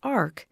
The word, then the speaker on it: AHRQ: The Agency for Healthcare Research and Quality, known by the name of AHRQ and pronounced ARC, has been a major funding source for quality improvement, outcomes, and comparative effectiveness and healthcare IT research.